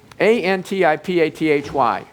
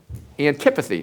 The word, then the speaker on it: antipathy: but he used a big word it was a n TI p a t h y and that is pronounced antipathy or an can't even say it antipathy and